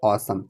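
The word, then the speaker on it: awesome: इसको देखिए क्या करेंगे अव्स नहीं ऑसम क्या करेंगे असम असम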